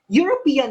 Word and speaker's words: European: European here, the word European, although starts with letter E, which is a vowel, but the E here is pronounced using the Y sound. European, Y sound.